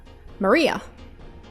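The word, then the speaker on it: 真里亞: course Malia is pronounced Maria I'm pronouncing it the English way the third character looks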